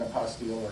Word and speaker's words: apostille: they may want an apostille or not and it's spelled t-i-l-l-e it's very much close to apostle but it isn't and it's just think